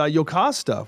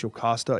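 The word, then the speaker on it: Jocasta: It's a Yokasta, which I think is how that would be pronounced, is a 33.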